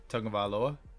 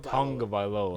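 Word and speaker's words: Tagovailoa: quarterback for the Dolphins tongue of aloa there you go it's tongue like tongue of Tong of aloa you're not getting you're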